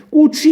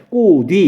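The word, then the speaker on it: 꽃 위: 꼬취 이렇게 발음 안 하잖아요. 그럼 어떻게 발음해요? 꼬뒤 이런 식으로 발음을 해요. 치읓이 뭘로 바뀌어버렸어요? 가느다란 물방울 중에 하나인 디귿으로 바뀌어버렸죠.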